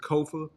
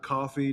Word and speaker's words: Kofa: I am your host, Kofa, K-O-F-A, not coffee, not, not kofi, or any variation thereof. It's Kofa, K-O-F-A. It rhymes with sofa.